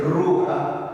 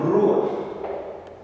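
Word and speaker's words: רוח: que no se dice ruja que no se le ruja sino rua es que Emilio estaba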